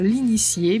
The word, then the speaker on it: initié: Но в слове, например, l'initié буква Т читается как С, потому что это слово образовано от глагола initier.